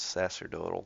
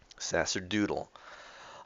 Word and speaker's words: sacerdotal: have just yeah sacraments sacerdotal class wait let's see if it's a hard sea it's a soft s yeah it's a soft sea sacerdotal yes a long o Sasser doodle um and the differentiation